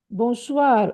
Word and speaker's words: bonsoir: When you see O-I-O-E, this is always pronounced wa. O-E-I, wa.